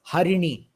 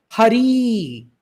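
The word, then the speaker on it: हरि: otherwise the meaning changes for example Hari when we chant with re long Hari becomes monkey Hari is monkey whereas Hari is the Lord narayana himself so the meaning completely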